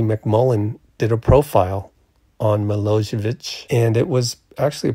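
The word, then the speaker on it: Milojević: I checked around on Google, and I'm pretty sure Milojevic is how you pronounce it.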